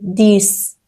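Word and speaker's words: dix: ۹ دیس ۱ دوباره مثل سیکس که آخرش ایکس داره سه تلفظ میشه دیس اونز ۱۱ دوز ۱۲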